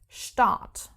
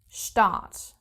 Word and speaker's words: Start: So we have many words starting with st and in this case the pronunciation is not like in English like let's take the word start which in German is the same word but pronounced start start and this is the